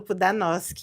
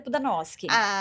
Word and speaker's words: Pudanoschi: Eu falo pro Danosk. É pro Danos. A pronúncia, na verdade, é pro Danosk, porque é o nome polonês.